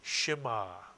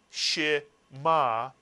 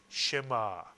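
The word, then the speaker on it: שְׁמַע: The shva under the shin is pronounced I, as in the word fish. Therefore, can you tell me how to pronounce this very important one-syllable Hebrew word? And if you said Shema, you are correct. Shema. Not Shema, but Shema. One syllable.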